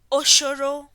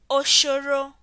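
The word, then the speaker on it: Ũcũrũ: Note, this is the U with the tilde and is pronounced as O. Example, Oshoro, which means porridge. Oshoro. Repeat after me. Oshoro.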